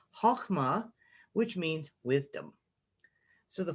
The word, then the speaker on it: Chokhmah: and goes to this sphere here, which is pronounced Chokhmah, which means wisdom.